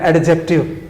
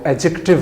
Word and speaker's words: adjective: لفظ استعمال ہوتا ہے، غلط طور پہ جو بولا جاتا ہے ایڈجیکٹیو، جی، ADJECTIVE، تو عام طور پہ ہمارے طالب علم اس کو ایڈجیکٹیو کہتے ہیں، جو کہ غلط صورت ہے۔ اس کا صحیح تلفظ جو ہے وہ ایڈجیکٹیو ہے، ایڈجیکٹیو، یعنی اس میں ڈی سائلنٹ ہوگا، میوٹ ہوگا، اس کی آواز نہیں آئے گی۔ تو اس کے